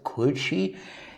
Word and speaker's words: kuchi: print gucci is the japanese word for mouth coochi and a or in english better pronounce this e is the Japanese word for